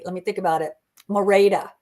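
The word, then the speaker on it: Merete: Mora, that's how you say her name. Mora, not Merit.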